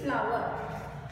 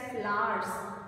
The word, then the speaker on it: flower: So you cannot sound flower, no R sound, and at the same time you cannot say flowers. There is no Z here at all.